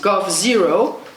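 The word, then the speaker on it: g0v: trade pack with China and they founded gov pronounced go zero g capital o v which defined themselves as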